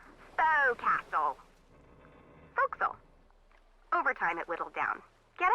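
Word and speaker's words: forecastle: voxel why is that try pronouncing it like an english sailor with no formal education faux castle foxel overtime it whittled down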